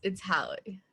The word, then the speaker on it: Hallie: The next speaker after you, Liam, is, Ms. Hal. Hallie. Hallie, I believe that's how you say it. But it's your turn to speak on behalf of yourself. Yeah, it's Hallie.